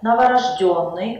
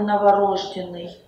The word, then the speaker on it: новорождённый: Это неправильно в любом значении в этом слове ударение должно падать только на последний слог квартал и всё так намерение новорождённый а не новорожденный оптовый а не оптовый У этого слова тоже